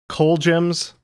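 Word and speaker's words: Colgems: Indeed, from November of 1967 on the, is it pronounced Coal Gems label. That's how I pronounce it. Yeah, I think that's it.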